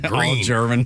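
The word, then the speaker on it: Gruene: Texas by the way they spell it like not like G re e e e uh n it's like g r u e hn like green uh New Brun Falls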